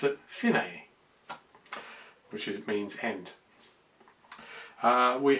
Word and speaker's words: fine: the bit that says fine or as they pronounce it finae which is means end we have the repeat